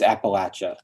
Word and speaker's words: Appalachia: whisper like a warning it's Appalachia it rhymes with comeback ATA the way Yates rhymes with hates not Heats Appalachia doesn't rhyme with euthanasia anymore than uriy rhymes with cowardice say it with me